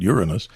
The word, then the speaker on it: Uranus: And again, to the audience, I pronounce it Uranus.